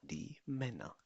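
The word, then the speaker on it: die Männer: तो क्या कहा जाएगा दी मैना प्रोनाउंस मी दी मैना दी मैना अगर तो वो नाउन सिंगुलर र मस्कुलिन है।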